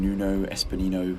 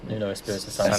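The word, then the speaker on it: Nuno Espírito Santo: Nuno Espinino. What's his name? Nuno Espirito Santo.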